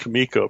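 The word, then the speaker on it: Comico: always explained it's pronounced kamiko because the guys that ran it were Italian so it helps you understand why it's called kamiko and they were running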